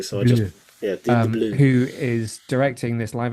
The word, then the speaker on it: DeBlois: Dim de Blur, I DeBleur, think. DeBlois. It's like blue but spelt weirdly. So I just Bleu. yeah, Dim de Blue.